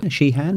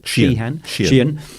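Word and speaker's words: Sheehan: a bright shining Li Neil shean is how you pronounce it shean about the Vietnam War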